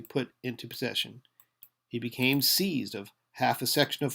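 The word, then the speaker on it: seise: He became seized of half a section of farmland near Amarillo. So, we have seize s e i s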